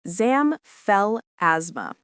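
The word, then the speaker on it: xanthelasma: Sign number four is zamthalisma, pronounced zamfel asthma.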